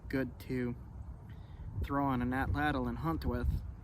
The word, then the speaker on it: atlatl: to throw on an atlatl and hunt with. I was recently told that the correct way to pronounce atlatl is atlat.